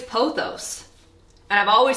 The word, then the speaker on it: pothos: thing to note throughout the entire video I pronounce two plant names incorrectly I'm only human I've always said pothos apparently it's pothos and I've always said philodendron apparently it's philodendron